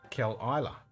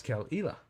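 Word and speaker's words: Caol Ila: same kind of spelling you would pronounce it Kell Ela but it's not I'm sorry not kill Isla but it's kel'ila and even she found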